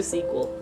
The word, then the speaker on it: SQL: want me to pronounce sql is not sql actually this time i remembered today i have memory memory sequel yeah yeah let's do sequel i don't know somehow